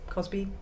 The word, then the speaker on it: Cosby: I say his name wrong sometimes, Crosby or Cosby, but Bill Cosby.